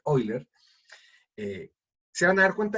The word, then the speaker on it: Euler: diagramas de Euler, o realmente como se pronuncia originalmente, Euler, se van a dar